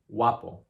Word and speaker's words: guapo: Now the G in Spanish is so light sometimes that sometimes the sequence of sounds G-U-A in Spanish actually sounds more like a wa, wa.